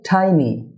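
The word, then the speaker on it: tiny: দুটি ভাওয়েল সাউন্ডের মাঝে পড়ে যায়, তাই এর উচ্চারণ হয়েছে D, Lord of, a Lord of. Dear viewer, টিনি না হয়ে হবে টাইনি, টাইনি।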